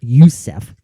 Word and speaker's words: Joseph: titanic mary joseph youssef it's spelled joseph but it's promot uh uh pronounced yousef she was four years